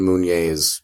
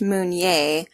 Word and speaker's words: Meunier: It's spelled Meunier. So it's pronounced Meunier, but it looks like Meunier.